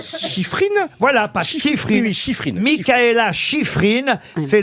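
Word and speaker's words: Shiffrin: savez comment ça s'écrit prononcez le bien ça se dit chifrine voilà pasifrineif Mela chifrine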